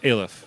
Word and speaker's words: Aleph: Aleph. Okay, we'll say that. This rhymes with bailiff.